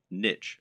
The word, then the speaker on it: niche: business parlance what is your niche or niche as some people pronounce it a niche is a